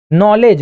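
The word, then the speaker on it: knowledge: नॉलेज नॉलेज में जो D silent होता है ना इसलिए वह डी को भूल जाते हैं।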